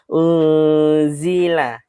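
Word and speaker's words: أُنزِلَ: Sa berarti samar bacanya unzila ika berarti ikhfa bacanya unzila ilaika wama a-nya ada empat lagi. Unzila dua ketukan dan juga samar-samar min.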